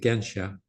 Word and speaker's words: Gensha: I said Gesha, she said Gensha.